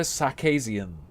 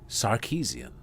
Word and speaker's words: Sarkeesian: Samson video say anrita sakian Shi oh and then there was the black guy who was like Anita sh sharian as well no one who likes her can say her name it's Anita sarkeesian why can't her fans